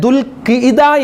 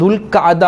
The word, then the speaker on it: ദുൽഖഅദ: ദുൽഖഅദ എന്ന പല ആളുകളും ദുൽഖാദ മാസം, ദുൽഖാദ എന്ന് പറയും, ദുൽഖാദ മാസം, അത് ദുൽഖിദ മാസം, അങ്ങനെ പല രൂപത്തിലാണ് ആളുകൾ പറയാറുള്ളത്. എന്താണ് കറക്റ്റ് അതിൻ്റെ ഉച്ചാരണം എന്താണ്? ദുൽഖഅദ എന്നാണ് അതിൻ്റെ ഉച്ചാരണം. ദുൽഖഅദ.